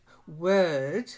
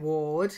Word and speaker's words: word: good good good then word word not like Ward you've got a ward